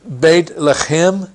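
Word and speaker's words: בית לחם: later on the Messiah the name Bethlehem pronounced bait left him means House of bread in Arabic it's Beit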